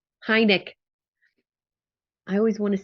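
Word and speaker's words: Heinecke: Jason, how do you pronounce Stu's last name? I always say it wrong. Heineck. I always want to say like Heineke, or yeah. Heineck, Stu Heineck.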